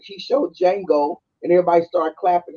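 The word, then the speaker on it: Django: then he's like showed Jango and everybody started clapping he said the D is silent and then he show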